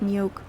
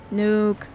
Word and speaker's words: Nuuk: Not Nuuk. Nuuk. Come on. Nuuk. Get that word right.